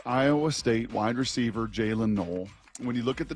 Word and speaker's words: Noel: It's N O E L. It's not Noel. It's pronounced null.